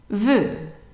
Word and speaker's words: veut: And notice that the T here is also silent. And we have seen so far all the words that we have seen that have a T at the end. The T is silent. So the EU here is a new one. And the EU is actually pronounced just like an E, but a little bit longer.